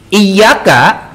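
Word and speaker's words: إياك: Iyyaka tanpa tasdid berarti jadi iyyaka. Apa artinya? Iyyaka itu artinya dewa matahari.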